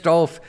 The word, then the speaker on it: Dolph: Just search Dolph. I'm on Audible. I'm on Amazon. You name it. So yes. Just search the word Dolph. It rhymes with golf.